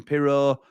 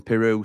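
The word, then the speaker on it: Piroe: wing and Joel Peru I've been calling him pero but the leads Lads call him Peru so let's show him the respect that he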